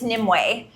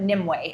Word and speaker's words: Nimue: It's Nimue or Nim. Nimbles also works. I answer to Nimue as well, but Nimue is how you pronounce it.